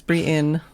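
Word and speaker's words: Brienne: pronounced his name right is it BR Brien Brien Brien Brien of of tarf yeah it's Brien is it is it really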